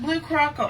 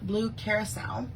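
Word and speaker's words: Blue Curaçao: proud of me because i learned how to pronounce this and it's not blue croco i've heard people say it but um apparently it's called blue carousel don't know how i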